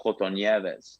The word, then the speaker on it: Coton Nieves: Big shout to Michelle Coton Nieves.